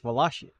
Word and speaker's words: Wallachia: check a pronunciation for Waka let's see laia pronunciation wallia wallia see it's Walia oh I have the slow option now waia